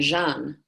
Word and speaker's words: Jeanne: so it's shine look think of Java and add an end Jean yeah yeah that's it